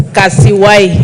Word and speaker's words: Kasiwai: Thank you, Honorable Speaker, and thank you for pronouncing my name correctly. It's Kasiwai. Kasiwai.